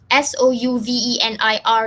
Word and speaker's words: souvenir: to help a little fun with the word s-o-u-v-e-n-i-r here how do you pronounce the word can we get a little